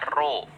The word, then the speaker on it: rho: Kalau dirumuskan, massa jenis itu lambangnya ini nih kayak P, tapi bacanya bukan P, bacanya Rho. Ini bacanya Rho.